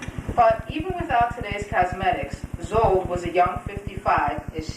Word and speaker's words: Szold: particular study circle participants Henrietta Szold maybe because her name rhymes with old you are and some